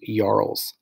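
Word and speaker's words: jarls: of the leader it also included yarls it's pronounced yarls okay they were nobles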